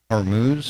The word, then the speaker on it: Hormuz: Is it Hermuz or Hormuz? How do you say that? I think it's just Hermuz.